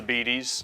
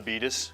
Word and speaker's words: Betes: It's pronounced the Beaties, not the Beatus, because I don't have diabetes.